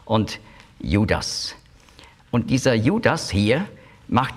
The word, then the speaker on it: Judas: Judas ist die griechische Aussprache von Juda, beziehungsweise Jehuda. Und zwar macht man eben noch ein S am Schluss, weil für griechische Ohren Juda, das klingt weiblich. Aber mit dem S ist es männlich.